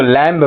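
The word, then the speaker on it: lamb: मैंने मेमना बोलते हैं लेकिन ये लैम नहीं होता लैम होता है बी क्या होता है साइलेंट होता है यानी बी का हम उच्चारण नहीं करते तो आप देखेंगे यहां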